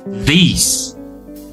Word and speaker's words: these: Nah, ini artinya long vowel. Long vowel. Jadi huruf I-nya ini dibacanya dua kali seolah kayak gitu ya.